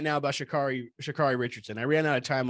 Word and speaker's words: Sha'Carri: She's fucking, somebody mispronounces her name. She's like, it's Sha'Carri. Like dude, she's the fucking boss. I love Sha'Carri Richardson.